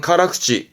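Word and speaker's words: 辛口: 이렇게 쓰면 발음은 카라쿠치, 카라쿠치는 매운맛.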